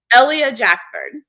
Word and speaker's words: Ellia Jacksford: Ellia Jacksford. Ellia. Okay. See, yeah. I just want to put the emphasis on the wrong letter.